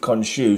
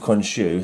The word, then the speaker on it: Khonshu: So these Fist of Khonshu should be before this one.